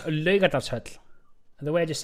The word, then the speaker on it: Laugardalshöll: do I Say it pronounce again. Laugardalshöll? The way I just said it. Laugardalshöll. That last part is really difficult for you because it's got that I'm double not L. saying that. Laugardalshöll.